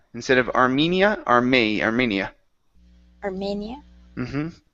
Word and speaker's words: Armenia: Next up, we have the word Armenia. Instead of Armenia, Armenia. Armenia. Mm-hmm. Yeah, we pronounce it mania.